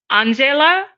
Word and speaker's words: Angela: Angela. Angela. Think Ella, and it's just Angela.